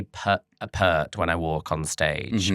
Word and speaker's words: Peart: It's Peart.